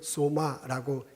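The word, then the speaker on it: σῶμα: 히라버 원어로는 소마라고 읽습니다.이 단어는 몸으로 이렇게 번역해 놓았는데요.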